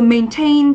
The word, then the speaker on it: maintain: Ở đáp án C chúng ta có từ maintain thì đây cũng là động từ trọng âm rơi âm tiết thứ hai, có nghĩa là duy trì, củng cố.